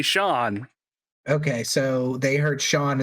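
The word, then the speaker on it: Seán: yeah yeah probably because you don't say sian you say sean okay so they heard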